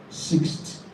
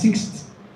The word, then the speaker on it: sixth: it six sixth great pronouncing it as sixth is correct especially for the fact that you are not a native English speaker so you can pronounce it that way you will understand but a native English speaker will not pronounce it as six never not possible I wasn't a science